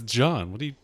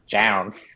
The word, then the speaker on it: Jaune: everybody just not know how to pronounce the name yeah it's john do i live in an alternate reality where john is mispronounced down look at the